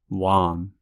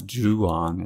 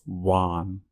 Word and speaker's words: Juan: notice that this time it's not the H sound um it's the W sound Juan it's not juong it's one so very very common